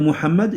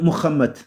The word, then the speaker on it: Mohammed: Au lieu de dire Mohammed, ils vont dire Mohammad ouham.